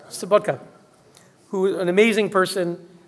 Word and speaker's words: Sobotka: Let me commend him, Mr. Wolfgang Sobotnik. Am I pronouncing that right? Yeah? Sobotka, who is an amazing person who brought parliamentarians from around the world for a conference, a terrific conference.